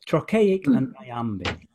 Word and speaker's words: trochaic: forms are iambic and trochaic or trochaic i think it's called it's very hard work to say but it's rockhamp trochaic and basically what that means i am big means the second syllable is stressed means the first syllable is stressed so if you think